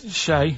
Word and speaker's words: Che: Che is like shake, and his surname is like guitar.